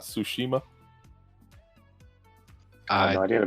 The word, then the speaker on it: Tsushima: Did you know it was pronounced Tsushima and not Tsushima?